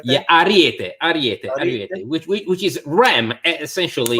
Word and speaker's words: Ariete: Is that how that's pronounced? Ariete. Yeah, Ariete, which is ram, essentially, right.